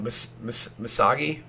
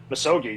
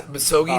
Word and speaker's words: Misogi: And I don't know if I'm going to say it correctly, but the Misagi concept. Misogi, yeah. Misogi.